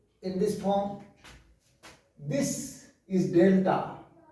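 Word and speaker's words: ∂: This is delta. We read it as del. TA को हम नहीं पढ़ेंगे, इसको हम del से प्रोनाउंस करेंगे।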